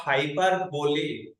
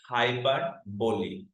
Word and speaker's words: hyperbole: is not hyperb because most of most of the students actually mispronounce the word hyper B no no no you may Google it and check it out the correct pronunciation of this word is hybo now what is hyperboy